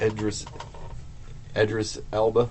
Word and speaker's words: Idris Elba: Idris Elba.